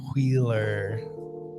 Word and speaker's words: Wheeler: boy Andrew Wheeler. He's got an H in his name, so it's pronounced Wheeler. With Travis Moore, who's done some phenomenal art on Wonder Woman lately, Tamara Bonvillain, and Aditya Bidikar.